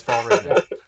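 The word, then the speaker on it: Fjällräven: There's a silent J. It's got lots of special characters I don't know how to say. But if you ignore those, it is pronounced as Fall Raven.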